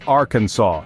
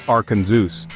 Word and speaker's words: Arkansas: name is a no no you see it's pronounced Arkansas not arenus this might seem like a minor linguistic hiccup